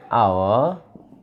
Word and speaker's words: hour: তাহলে আওয়া, HOUR, তোমরা লক্ষ্য করে দেখো এইচটা উচ্চারণ হচ্ছে না, এইচটা উচ্চারণ হচ্ছে না হয়ে কিসের মতো হয়ে যাচ্ছে, আওয়া, ভাওয়ালের মতো হচ্ছে, আওয়া, ঠিক আছে, আওয়া।